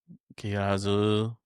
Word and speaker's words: Kizaru: Kizaru. Kizaru.